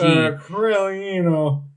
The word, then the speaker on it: Coramino: It's just a G. Coramino. It's a G for Gabe, so I'll give it a 10.